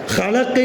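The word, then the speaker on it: خلق: அல்லாஹ் குர்ஆனில் வார்த்தையை பயன்படுத்துறான் ஹலக் அதுல வரக்கூடிய அத காரி உச்சரிக்கணும் கொஞ்சம் அழுத்தமா உச்சரிக்கணும் ஒருவர் ஹலக்குன்னு இல்லாம ஹலக்குன்னு உச்சரிச்சா ஹலக்குன்னு காரி உச்சரிச்சா அதுக்கு என்ன அர்த்தம் படைச்சான்னு அர்த்தம். காராம உச்சரிச்சா சரச்சான்னு அர்த்தம். எவ்வளவு பெரிய அர்த்தம் மாறுபாடு ஹலக்கன்னு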